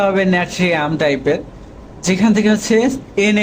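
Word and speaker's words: Natrium: বাট কিছু Latin নামের ক্ষেত্রে আসলে কনফিউশন তৈরি হয়, যেমন হচ্ছে এখানে উচ্চারণটা হবে ন্যাট্রিয়াম টাইপের, যেখান থেকে হচ্ছে এন এ নেওয়া হচ্ছে,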